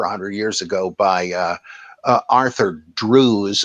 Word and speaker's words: Drews: years ago by Arthur Drews. It looks like in English pronunciation, I think it's Drefts, though.